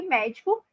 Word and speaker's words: médico: configurações da nossa língua todas as palavras proparoxítonas são acentuadas por isso que médico tem lá o acento agora medico é uma